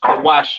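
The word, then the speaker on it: כוש: Uh pronounced Kawash in the Hebrew.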